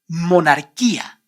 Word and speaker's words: monarquía: You don't pronounce the vowel U in all these words because the vowel U is after the consonants G, Q, and before the vowels E, I.